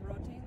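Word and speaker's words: Reading: she's uh she's going to the University of rotting yeah that's how you say it and uh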